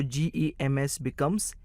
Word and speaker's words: gems: इसलिए G-E-M-S, gems बन जाता है।